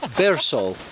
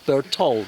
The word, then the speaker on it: Bertol: Bercol, Bertol. Bertol, Bertol. Bertol. Okay. They're making fun of me as usual because I cannot pronounce the name of our new hut. It's Bertol. Is that correct? Correct.